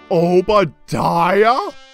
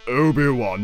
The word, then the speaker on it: Obi-Wan: Obadiah? Oh, it's pronounced Obi-Wan, you idiot.